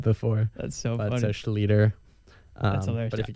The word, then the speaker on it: Schlueter: Schlueter. So it's been butchered bad before. That's so funny. So Schlueter.